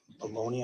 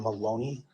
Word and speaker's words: Maloney: Yes, I went back to speak with uh, the U-Haul employee, Briana Baloney. I believe that's how you pronounce her name. Brianna Maloney.